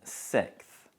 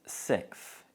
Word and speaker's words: sixth: And it's so difficult that most native speakers elide the s sound in the middle. So we usually pronounce it sixth.